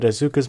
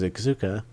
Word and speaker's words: Asuka: treated as such but asuka's Mom is treated with a bit more importance because it explains why auka is auka oh God I mispronounced her name Asuka okay I'm leaving this